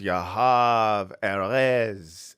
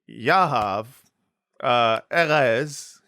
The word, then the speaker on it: Yahav Erez: This is Bad Hasbara, our guest, Yahav Erez. Let's try that one more time. Put the emphasis on the first syllable in both words.